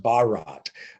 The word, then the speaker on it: Bharat: so the company also announced the launch of Barrett box what can you tell us about the